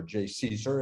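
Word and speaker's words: JCESR: for energy storage research or jay caesar as we like to pronounce it it's led by argon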